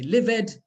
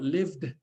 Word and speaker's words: lived: So they say live-ed, ask-ed, start-ed. Unfortunately, only the last one is pronounced correctly because the others take on these phonemic sounds. So we've got lived, asked, started.